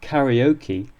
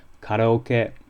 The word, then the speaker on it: karaoke: of the Japanese sake nor does karaoke lead to the raising of any eyebrows although the Japanese would say karoke so why am I